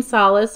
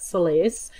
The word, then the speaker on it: Solace: you like the name solace or you could even pronounce it Solis as a middle name I